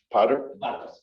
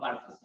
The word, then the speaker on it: Bartos: Powder? Say it slower. Oh boy. Yeah. Spell it. It's like Bart. Like, there we go. Bartos? Oh, Bartos. Bartos.